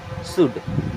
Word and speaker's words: should: SHOULD, अब यहाँ पे L होता है साइलेंट एंड इसे पढ़ते हैं शुड। क्या पढ़ते हैं? शुड।